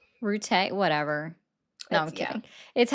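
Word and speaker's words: Rutte: Are you talking about Matt Root? Rute. Whatever. No, I'm kidding. Yeah. It's how he pronounces his name. That's the correct pronunciation. My bad. Rute.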